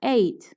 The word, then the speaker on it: ate: Por ejemplo, eat, el verbo comer, cambia a ate. Se pronuncia tal cual como el número 8.